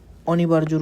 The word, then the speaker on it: অনিবার্য: তো এই এই এই সশস্ত্র অনিবার্যর উচ্চারণটা একটু দেখো, অনিবার্য, বয়াকারে বা, র বার, বর্গীয় জ ওকারে জ, অনিবার, এই রয়ের এসে হসন্ত হবে।